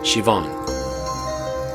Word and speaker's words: Siobhan: Siobhan? It's pronounced Siobhan.